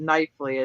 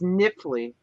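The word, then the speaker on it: Knifley: for a long time we called it nightfly it's k-n-i-f-l-e-y but it's niffly and they get real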